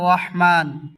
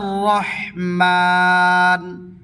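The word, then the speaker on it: الرحمن: রুকু আতুহা তিন আর রহমান আর রহমান হা শব্দটি উচ্চারণ করার সময় গলার মধ্যস্থলে অল্প চাপা দিবে হাহ আর রহমান আল্লামাল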